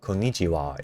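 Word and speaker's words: こんにちは: I don't know why, but like I I still do not understand why, but like sometimes in Japanese Ha gets pronounced as wah. Likew I've looked this up. Konichiwa is written with ha.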